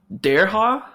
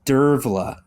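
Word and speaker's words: Dearbhla: to get this one dareja uh no it's it's dervla you said the m and the H was the V not the B and the H oh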